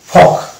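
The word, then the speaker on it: folk: যেমন এই যেটা এ এল কে আগে ভাইল আছে এ, তাহলে এটা এল সাইলেন্ট হয়ে যাবে, অর্থাৎ এটা হবে টক, অনুরূপভাবে এটা হবে চক, ওয়াক, ইয়ক, ফক।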